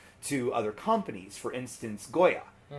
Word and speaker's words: Goya: For instance, Goya. Or in the more appropriate Puerto Rican pronunciation, Goja. And being from Vineland, you hear both.